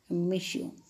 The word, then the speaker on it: monsieur: s i you are what's the pronunciation children miss you it's a form of